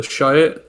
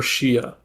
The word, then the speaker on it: Shiite: so you could pronounce it Shiite, Shiite, or Shia. So I'll go.